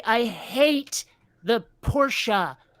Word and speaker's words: Porsche: It's not Porsche, or Porsche in American. It's a Porsche. ugh, I have to say, I hate the Porsche pronunciation.